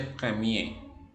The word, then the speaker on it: premier: la r final ok cuando una palabra termina en r la r al final no se pronuncian entonces la palabra que terminan en er en este caso es primero que se dice Premiere como terminan r en